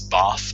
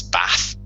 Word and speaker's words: Bath: That's just the example I use, but from where I'm from in England, it's Bath, and from the north, it's Bath.